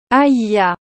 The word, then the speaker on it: Hayah: dans la bénédiction d'aaron mon nom est prononcé avec seulement deux syllabes aia je suis celui qui